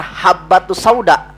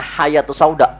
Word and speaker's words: habbatus sauda: obat dari segala obat harusnya yang benar habbatus sauda habbatus sauda tuh ya yang hitam ya apa dibahasa diitanya jinten HAM ya segala penyakit dia bacanya karena salah tulisannya hayatus Sauda ular hitam obat dari segala